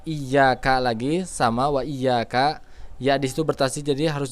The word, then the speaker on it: iyyaka: hamzah Jadi baca Jangan Iya karena bulu tapi iyyaka nabudu dan harus mengalir ya jangan sampai Iya